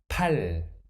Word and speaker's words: 팔: constant it becomes 입ad next word without the final constant 파 and the sound of the final concert 팔 8 next can you